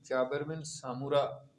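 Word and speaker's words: جابر بن سمرہ: یہ جو ہے نا، یہ جابر بن سمورہ ہے، صحیح تلفظ جو ہے نا۔ تو بعض اوقات جو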